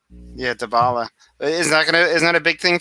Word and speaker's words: Dybala: No Diablo or Dybala, right? Dybala. That's Dybala.